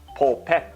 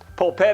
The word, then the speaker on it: polpette: out there who does Polpette is my my pronunciation for the word meatball the meatballs in Italy are called po pets and they are much